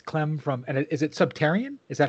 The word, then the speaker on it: Subterraen: uh it's it's clem from and is it subtarian is that how you pronounce it yes um i pronounce it subterrane yeah uh it's um i know it seems